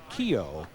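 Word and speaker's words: Keyuo: K-E-Y-U-O, pronounced Keo Craver.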